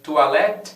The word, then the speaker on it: toilette: E você já se perguntou alguma vez o que significa a palavra toilette?